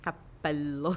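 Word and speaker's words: cappello: que não existe, como capello, né? E a gente tem uma diferença entre cabelo e o chapéu. Sim, capello, né? Que você alonga.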